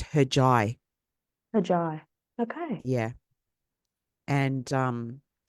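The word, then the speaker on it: Hercai: just like um so in Turkey they pronounce the letter c as a j sound like a j right so it's spelled h r c a i but it's pronounced heri heri okay yeah and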